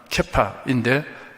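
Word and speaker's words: כיפא: 게바는 아람어입니다. 정확한 발음은 케파인데 바위라는 뜻입니다.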